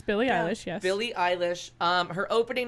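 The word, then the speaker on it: Billie Eilish: mine because the alliteration pronouncing Billy Eilish it's Billy I wish Billy I wish her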